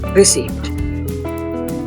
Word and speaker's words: receipt: chair is very comfortable to word number three receipt receip here the p in receip is silent say receipt not receipt don't forget to